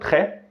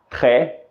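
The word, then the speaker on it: très: e Bian significa bem e é importante ter atenção a letra s no final da palavra ré que é muda Ok e aquele e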